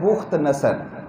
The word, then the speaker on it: بخت نصر: بخت نصر بھی ہے، لوگ اسے بخت نصر پڑھتے ہیں، یہ اصل جو اس کا تلفظ ہے وہ ہے بخت نصر۔ یہ بس اس نے